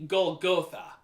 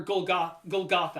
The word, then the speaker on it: Golgotha: It would be Golgotha. And or Golgotha, I pronounced it wrong, but Golgotha.